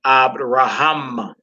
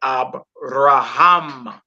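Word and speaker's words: אברהם: Instead of saying Abraham or Abraham, you say Abraham.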